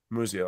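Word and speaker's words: Musial: Ruth here PSA 10 pop four San Muji mujio how do you pronounce that again Museum all right cool psa9 POP3 uh one grade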